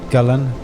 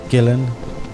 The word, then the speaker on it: Gullane: architect has been lost gulen gillen ghoulen the pronunciation of gulen changes based on who you ask even what side of the road you ask but the etymology of